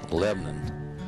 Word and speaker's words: Lebanon: Church actually belonged to the village of Lebanon, pronounced Lebanon, which also dates back to the 1800s.